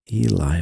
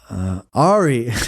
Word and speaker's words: Ari: skeptic skeptic tank um Eli why do I call him Eli he just had his special uh Jew out uh Ari not Eli it was two syllables but no yeah Ari